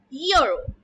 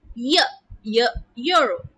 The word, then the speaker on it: euro: Now, although euro begins with the letter E, which is a vowel, but if you listen to it carefully, it is pronounced as euro, euro. Hence, it is a consonant sound.